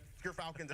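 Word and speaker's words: Gyrfalcon's: I got my Gerfalcons on. We actually, off screen, we're figuring out how it's pronounced. But Gerfalcons, everyone, so anyone who mispronounces it, that's how you say it.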